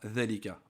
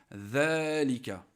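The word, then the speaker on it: ذلك: Med après level Verica on dit pas délicat on dit zélika donc on l'écrit sans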